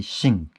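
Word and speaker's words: sinh: Instead of saying the hyperbolic sign, you can say shin.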